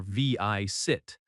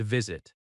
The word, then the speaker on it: visit: Visit has stress on the first syllable as well. VI sit.